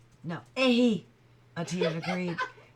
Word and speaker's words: ehe: "Ebe." "No, ehe," Etienne agreed. It's spelled E-H-E. For a minute I thought I was looking at a B, but it's E-H-E. So it's ehe.